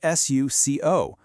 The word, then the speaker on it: suco: It's spelled s u c o, but phonetically it becomes suco. Notice how incredibly round those sounds are.